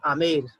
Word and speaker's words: Amer: तो हाउ इट is written, अंबर pronounced आमेर, ठीक है।